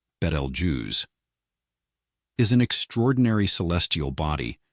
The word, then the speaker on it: Betelgeuse: star has been captivating stargazers for centuries commonly mispronounced as beetle juu beetle juu correctly pronounced balj is an extraordinary Celestial body nearing the dramatic